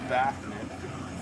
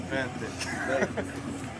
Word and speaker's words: Benthic: And Benthic, for those of you who pronounce it Bafnit, it is Benthic.